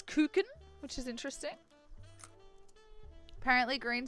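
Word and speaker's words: Kuchen: not very I've only I only read it as kutchen because it's ch and I I speak English so um but apparently it's cin which is interesting apparently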